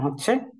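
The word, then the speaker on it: ح: আমরা এটা হচ্ছে সেই হা এই হাটার উচ্চারণ স্বাভাবিকভাবে আমরা যেভাবে হা বলি হা করলে এটার উচ্চারণ হয়ে যাচ্ছে কিন্তু শুরুতে আমরা যে বড় হা টা দেখছিলাম এটার উচ্চারণটা একটু হলকের মধ্যখান থেকে হবে এটার উচ্চারণ হবে হা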